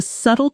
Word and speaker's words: subtle: The letter B is silent. Subtle, not subtle. Say it slowly with me, isolating the sound. Subtle, subtle.